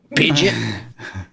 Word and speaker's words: Pidgeot: You can pronounce that one like Idjit. Pidgeot.